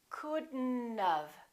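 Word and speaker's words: couldn't've: We pronounce the D and then we connect the D next to the N, and then the O disappears, but the T also disappears. Watch this. We say couldn't, and then we add this element. We do it like this. Couldn't have, couldn't have. Don't pronounce the O, don't pronounce the T.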